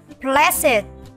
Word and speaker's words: blessed: Đuôi ED trong các tính từ sau đây sẽ được phát âm là IT. Các em sẽ cùng đọc với cô và hãy cùng nhớ lưu ý những tính từ này. Âm ED luôn luôn được đọc là IT. Aged, learned, beloved, blessed, naked.